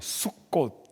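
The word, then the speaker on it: סוכות: 저리 라고도 하는 것입니다 히브리어로 녘 수꽃 이라고 발음합니다 그래서 달력에 보시면 습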